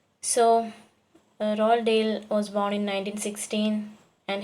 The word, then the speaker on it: Roald Dahl: See, the name of the writer can be pronounced as you can see in the bracket. Phonetic transcription is there in the bracket. Roald Dahl, which can be pronounced as it is.